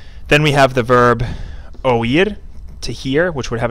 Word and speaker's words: oír: Then we have the verb oír, to hear, which would have an accent on this I, and this is pronounced oír, two syllables.